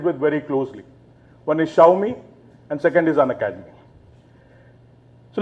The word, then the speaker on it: Xiaomi: very scared like if she tells the wrong pronunciation of that word it is xiaomi and thank you very much for that okay